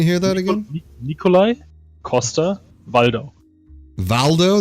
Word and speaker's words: Waldau: Valdo, that's how you say the last part?